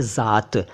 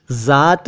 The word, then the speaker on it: ज़ात: देखिए, पहले लिखा है ज़ात। ज़ात है ये, इसको जात न कहें, ये ज़ात है।